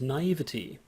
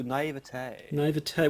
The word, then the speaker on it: naivety: paranoia and naivety right how do you go like i do even though many people go naivete well it's spelt with a y we're not french we we we we're english english speakers at any rate we absorb words into our own language like some sort of